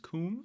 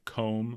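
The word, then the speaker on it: Combe: have departed from comb i've been told uh on our youtube channel that it should be pronounced comb so i'm going to do as opposed to like comb like what you brush your hair with so until someone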